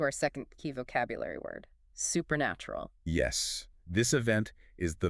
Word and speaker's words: supernatural: The stress falls on the nat part. Supernatural. Supernatural.